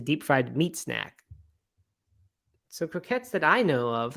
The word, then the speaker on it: croquette: Stephen did clarify that a McCrocket is pronounced croquette. I guess is the word, like the French. I don't think it's croquet because that would end in just one T. This is TTE, croquette.